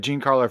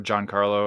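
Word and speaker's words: Giancarlo: Gene Carlo or John Carlo. I mean, it depends on the, you know, I think of where the person's from.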